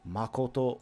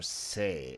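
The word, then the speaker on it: 誠: Makoto or sei is the way to pronounce this.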